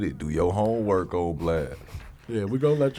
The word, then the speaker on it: Blxst: Do your homework, old Blxst.